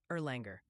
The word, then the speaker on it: Erlanger: It's pronounced Erlanger.